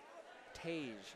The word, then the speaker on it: Tage: Tage, spelled like you'd spell page, the name page, not the book page, with a T.